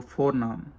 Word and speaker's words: voornaam: And what is your voornaam? Voornaam. V is like pronounced F, like F in English, V of Dutch, you know.